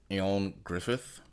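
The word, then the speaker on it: Ioan Gruffudd: never been able to pronounce it it's actually pronounced Aon Griffith Griffith he's Welsh or from wsh yeah he's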